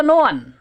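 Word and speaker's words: ن: Kemudian yang ketiga, yang 1 huruf itu nun. Ini bukan na ya.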